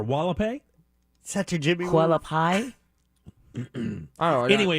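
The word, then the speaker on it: Hualapai: to clean up h-u-a-l-a-p-a-i it's hawala pay right or wall-a-pay such a jimmy koala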